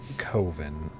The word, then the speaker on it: Coven: Telefrag says it's pronounced Coven. Much love, Mark Borchardt. It is. That's what. Shit. Because Coven sounds like oven, Because man. Coven sounds like oven, and that's not scary. That's why it's Coven.